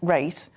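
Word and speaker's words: Reiss: It's spelled R-E-I-S-S, but pronounced Race.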